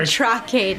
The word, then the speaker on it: Traque: The Traque chai.